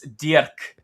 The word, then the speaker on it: Dirk: not Dirk. It's Dirk. that's correct. But So it's I've been saying okay. it wrong. And I don't think anybody outside of Germany can pronounce this very well. I mean, it takes effort for somebody not talking German to make this Dirk sound.